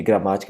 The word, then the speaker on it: gramática: Se eu fizer inclusive a divisão silábica de gramática, gramática, repara que é antepenúltima, que é a sílaba ma, é forte.